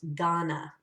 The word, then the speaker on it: Ghana: We're going to have the word Ghana, and it's pronounced Ghana.